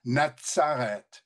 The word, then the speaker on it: natsare: We have the sadic and it's the sadic that gives us that pronunciation of natsare and the zed up here for nazerite gives us the pronunciation nazir.